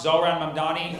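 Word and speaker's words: Zohran Mamdani: My name's pronounced Zoran Mamdani.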